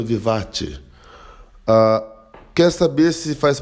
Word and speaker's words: vivace: 19 o andamento vivatti né inscreve-se vivace mas a pronúncia do italiano vivatti a quer saber se